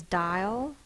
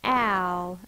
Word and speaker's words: dial: The next base word is dial. Dial. Dial. That's two vowel sounds, so it's two syllables. Die, that's an open syllable. The vowel is long. Ul. It's not owl, it's ul. It's the schwa again, so the upside down